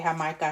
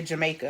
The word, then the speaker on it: Jamaica: It looks like it's spelled Agua de Jamaica. I was about to say Jamaica, but I learned that is not the correct way to say it. And so now I'm just